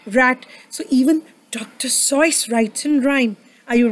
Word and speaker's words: Seuss: Seuss but do you know his real name how you pronounce it it's like voice can you say voice dr. sois can you all say